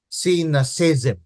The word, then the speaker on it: cynicism: in the chat shake off the poison of sinis cism yan ang pronunciation yan What is cynicism Anong ibig sabihin